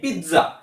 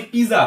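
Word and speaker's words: pizza: আমরা বাংলায় normally পিজা পিজা বলে থাকি, পিজা। ঠিক আছে, পিজা, কিন্তু এটা পিজা না, ইটস পিৎজা। মানে বলতে পারো পি পি ট জি এ। এটাকে কিভাবে উচ্চারণ করবে? পি আই টি জি এ, পি আই টি জে এ, পিৎজা। সো টটা একটু সাইলেন্ট থাকবে, পুরোপুরি ভাবে উচ্চারণ হবে না, কিন্তু টটাকে রাখতে হবে পিৎজা সাউন্ডে, পিৎজা, পিৎজা।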